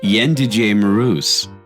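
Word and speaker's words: Jędrzej Mróz: Jadrez Mroz? Almost. It's actually Yendije Maruz.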